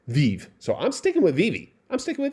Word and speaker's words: VeVe: some people come down and tell me it's pronounced vive well guess what my wife joined okay my